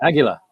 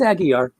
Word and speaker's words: Aguiar: No, it's Aguiar. Really? That's how you. That's I just had to see it written though. I keep thinking Aguila, which is eagle.